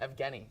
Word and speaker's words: Evgeny: Evgeny.